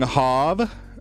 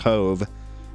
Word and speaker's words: Hove: But yeah, we got Young Hov, or Young Hove. His name's actually pronounced Hove, but everybody's been calling him Hov since he joined the Discord.